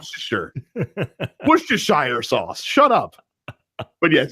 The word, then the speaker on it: Worcestershire: whatever Domino orders a drink and says put Worcestershire sauce in it it's common in a Bloody